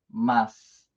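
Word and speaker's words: ます: Não é um S, mas também não é um su, tá bom?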